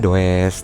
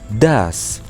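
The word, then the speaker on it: does: lihat tuh di pertanyaannya ditulisnya dash tulisannya dowes tapi dibacanya dash yes.she karena android uh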